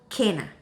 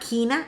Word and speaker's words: Kena: cana christmas uh and it's not quina it's kena that's the correct the correct uh uh pronunciation okay kena and i have here